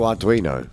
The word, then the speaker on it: Arduino: It's an Italian name. I can't pronounce it for the life of me. It was a little open access... what's the name? Open source, that's one. All right. Microprocessor. Oh, Arduino. That's the one. Yeah. That's how you pronounce it.